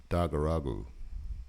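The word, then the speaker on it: Daguragu: stop it but uh just to correct the pronunciation it's Juperula and Dagaru media users with a selfie taken at Dagaragu also known as Wy Creek in the northern Northern Territory of Australia.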